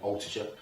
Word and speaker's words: Altucher: One is the Jamie Altucher show, and the other one is, and I always struggle to pronounce his name, and he does his last name, Altucher, and the Tim Ferriss show.